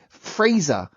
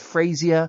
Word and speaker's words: Fraser: Fraser, is that a name that is often misinterpreted with Frazier, Fraser, Frasers?